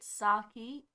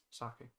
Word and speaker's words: sake: grain is a japanese spirit saki made it's rice i don't think i said it right again sake um in what year